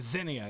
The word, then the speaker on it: Xenia: Is that how you pronounce it? Xenia, yeah.